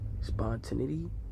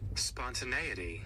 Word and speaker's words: spontaneity: Spontinity.